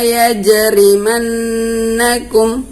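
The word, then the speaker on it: يَجْرِمَنَّكُمْ: laa ya jama'akum ya Jadi yang merupakan huruf Qalqalah di sini adalah pada huruf Jim matinya ya Jadi kita bacanya harus memantul wala yajrimakum kemudian Selain itu ada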